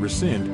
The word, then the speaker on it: rescind: cancel your appointment and rescind is to cancel an agreement rescind sounds like resend so you canceled and